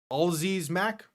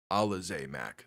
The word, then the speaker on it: Alize Mack: Looking for Alziz Mack. Gotta relook up his pronunciation after this game. Actually, is it on this roster sheet? It is. Alize Mack.